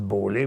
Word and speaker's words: Bola: Je vais prononcer Bola, mais il paraît qu'ils le prononcent Beaulais, mais ça s'écrit B-O-L-A.